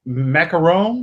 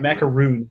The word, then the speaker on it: macaron: and a honeysuckle mango macaron I hope I pronounce that right it's definitely not macaroon that's the coconut crab what did you